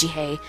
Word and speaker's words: Jihae: be found yeah so i heard him say his name is jihae so i'm going to say pronounce it as jihae from now on if